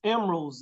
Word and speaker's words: Emeraldz: And it's Emeraldz, if you think about the jewel, it's Emeraldz with a Z.